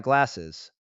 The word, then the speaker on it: glasses: It is glasses with an is sound at the end because of the double s. Glasses. Okay, sentence time. He looks very intellectual in his new glasses.